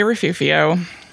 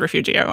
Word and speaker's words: Refugio: every few yes please I and many other Santa Barbara people but not all say refuvio but it's spelled Refugio and Jen says Refugio I was wondering which